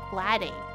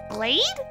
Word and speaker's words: glade: it mean open area blade but with a G Glade oh what's that what's